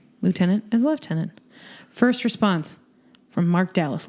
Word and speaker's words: lieutenant: there is an F in it as in leftenant further response nomads from London England because it's the correct pronunciation snaps hot take very hot take anyway